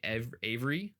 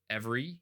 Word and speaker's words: Avery: So when you research him, some people say Avery, some people say Every, Every, or Avery. Some people say his name was John Avery, or John Avery.